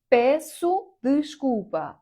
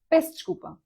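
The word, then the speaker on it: peço desculpa: Я думаю, ви чули цей вираз песчкупа песушкупа. Але не португальці не будуть прям всі звуки вимовляти, як вони пишуться, але а почуєте скоріш за все песчкупа, бо ну там скорочують оці закінчення часто пес чкуп і так далі.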